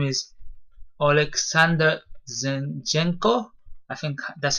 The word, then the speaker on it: Zinchenko: He's a midfielder, and his name is Alexander Zinchenko. I think that's how you pronounce it.